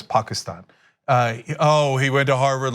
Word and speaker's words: Pakistan: cuz they're like oh he pronounces Pakistan correctly when he says Pakistan oh he went to